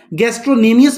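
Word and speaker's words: gastrocnemius: और तीसरे नंबर पे जो मसल है इसको हम बोलते हैं गैस्ट्रोसनीमियस। ठीक है, गैस्ट्रोनीमियस बोल लो, गैस्ट्रोसनीमियस बोल लो, जो बोलना है बोलो, लेकिन बोलो स्पेलिंग में बोल देता हूँ, GASTRO, आगे है CNEMIUS।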